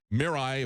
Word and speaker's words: Mirai: they released this uh they call it the Mirai if I'm pronouncing it correctly it's m i r AI